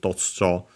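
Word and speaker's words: 突如: Totsujo is an adverb, Chinese compound, so I think still okay, no, this is one of those actually accent on the first more. Actually, I think I actually pronounce it Totsujo.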